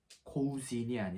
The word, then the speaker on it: Cousin: 다음 으로 넘어가면 , 남녀 사촌이 있는데 , 남자 사촌 은 독특 한 발음 을 가지고 있습니다 . " 커즌 " 이라 고 발음 합니다 .